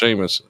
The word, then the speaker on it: Seamus: It's pronounced Seamus.